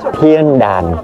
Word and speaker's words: Thiên Đàn: mọi người chữ đàn mình đọc theo kiểu miền Nam thì giống như có g Nhưng mà thực chất nó là An nha mọi người đàn Nha Thiên đàn đó tên đúng của nó phát âm chính xác là như vậy ha và bây giờ mình